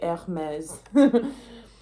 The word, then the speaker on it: Hermes: It's Hermes. I was compelled to pronounce it like high fashion, like Hermes.